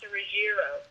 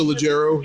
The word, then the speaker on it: Leggero: Natasha Ruggiero. Natasha Leggero, yeah.